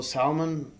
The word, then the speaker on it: salmon: you know uh also salmon it prepared a couple different ways um a silent L by the way what salmon Salon yeah